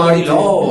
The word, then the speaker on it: Ariloo: Non con la U, con l'accento. Con esatto. Due O. No, Vicentino. Quindi, no, tu ti dico Ari Lu.